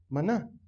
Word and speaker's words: maná: Que en hebreo se pronuncia maná.